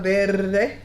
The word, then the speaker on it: verde: Say salsa verde.